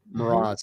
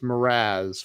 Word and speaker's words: Mras: Mras. And it's not pronounced Mraz for those of you that want to call her Michelle Mras.